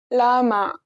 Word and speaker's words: 라마: You can say it similar to an R, but your tongue should hit the roof of your mouth. Here's an example. 라마, 라마.